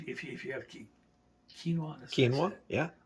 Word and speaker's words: quinoa: you have key quinoa quinoa yeah always look at the Qui and don't pronounce it you can take quinoa